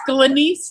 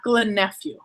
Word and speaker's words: Glenyce: It's Glenyce, not Glenephew.